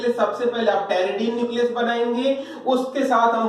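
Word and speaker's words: pteridine: इस न्यूक्लियस को बोलते हैं हम टेरिडीन। टेरिडीन क्लियर है? टेरिडीन पी से स्टार्ट होता है, यहाँ पी साइलेंट होता है।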